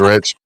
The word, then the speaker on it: Ritch: Both of you guys' names, Rich, and both of you are down-to-earth guys. And I think you misspelled mine on there a while ago, because mine is RITCH. It's Rich.